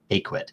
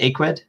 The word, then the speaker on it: Ecwid: way i think that i mispronounced uh a quit so is it aqued yes okay perfect so